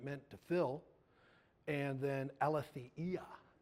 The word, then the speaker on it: aletheia: to fill and then Alia it's Greek so you pronounce every vowel and it's associated with